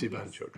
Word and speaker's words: Jwanczuk: I must apologise, I hadn't realised quickly enough that this is a case where the J is pronounced as an I. It's Jwanczuk.